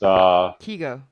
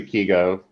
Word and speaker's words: Kiago: It's pronounced Kigo. Ego, by the way. Sorry, Kigo. I'm just butchering names tonight, left and right.